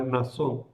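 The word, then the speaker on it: Mnasón: La Biblia de la Conferencia Episcopal ha suprimido la N con acierto porque se pronuncia Nasón. Entonces, está cerca. Pero si lo veis alguna vez, podéis verlo con M. Nasón.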